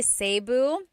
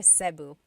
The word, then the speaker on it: Cebu: So, technically in the Tagalog alphabet, the letter E can be pronounced E or E like the letter I. So, I say Cu. Cebu. And I know some people say Sabu, but usually it's either Cu or Sebu.